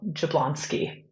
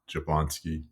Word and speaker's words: Jablonski: appreciate you asking that it is pronounced exactly as it's spelled jablonsky jablonsky got it I think